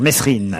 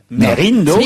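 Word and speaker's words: Mesrine: dans le film sur messerine Vincent Cassel a précisé qu'on disait pas messerine mais Merine Merine on a toujours dit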